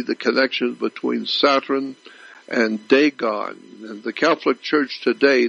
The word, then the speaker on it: Dagon: The Catholic Church, when you see the Pope, he represents the worship of Dagon. It's spelled D-A-G-O-N, Dagon.